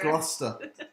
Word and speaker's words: Gloucester: It's Gloucester.